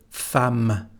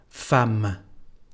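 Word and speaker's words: femme: for this particular word fam and again we don't pronounce the final e fam and that's all what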